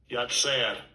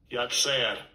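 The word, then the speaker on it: יָצַר: this amplifier so here we go alongside 3335 yet sad yet sad there we go okay let's do that again Strong's age 3335 yet sad yet sad there we go so that's the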